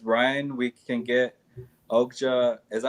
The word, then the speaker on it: Okja: Tim says, Ryan, we can get Okja. Is that how you say it? Okja? Okja, yeah.